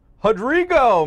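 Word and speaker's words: Rodrigo: Hey, I'm gonna give you the Brazilian pronunciation on this name. Hadrigo Machado this week.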